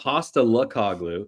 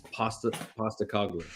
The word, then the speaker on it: Postecoglou: No, it's not Pasta Lukaku. It's Pasta Koglu.